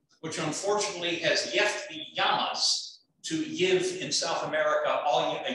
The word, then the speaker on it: llama: unfortunately has left the yamas to give in south america you a yoke get it in spanish you pronounce double l like like y so it's not the llama it's a gamma so